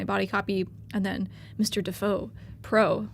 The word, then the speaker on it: Defoe: Defoe Pro. Wow, it rhymes. Defoe. Mr. Defoe Pro.